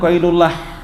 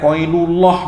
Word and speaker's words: qailullah: sunah yang berikutnya adalah melakukan qailullah membacanya bukan oilullah bukan oilulatun itu bukan pakai lafat Allah artinya melakukan tidur siang